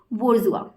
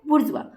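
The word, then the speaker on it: bourgeois: ये जो वर्ड है उसको हम प्रोनाउंस करेंगे किस तरीके से, सो दिस वर्ड इज बुर्जुआ। बुर्जुआ, तो ये जो वर्ड होता है कैसे प्रोनाउंस होता है, बुर्जुआ।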